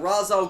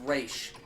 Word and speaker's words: Ra's: person it's like yeah razor right it's actually pronounced race it's called misconception yeah